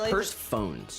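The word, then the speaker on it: Persephone: I was saying it wrong, though. It's purse phones.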